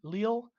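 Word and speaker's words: Lille: pronunciation of this team lil leo lily lil lu again it's french so i'm gonna go real soft with it somebody helped me in the chat last time chelsea up two nil leel chelsea up two nil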